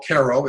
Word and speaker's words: Cairo: in Cairo New York which the natives like to call Koo it's spelled just like KIRO Egypt and it was he